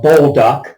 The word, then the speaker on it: Bolduc: retired General Donald uh bullduck and I think I've heard it pronounced that way on the radio I think that's correct b-o-l-d-u-c and I did a